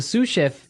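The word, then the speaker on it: sous chef: Sue cheef. Sue cheef. S o u s. So the s is silent because it's like a French word. Yeah. Something like that. Okay. So the sue chef is the second in line to the head chef.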